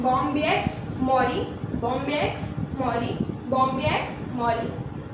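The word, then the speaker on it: Bombyx mori: Moth होता है जो कि जिसे कहते हैं बॉम्बिएक्स मॉरी, बॉम्बिएक्स मॉरी, बॉम्बिएक्स मॉरी, प्रोनाउंसिएशन सुन लीजिएगा, बॉम्बिएक्स मॉरी, जिससे बेस्ट सिल्क प्रोड्यूस होता है.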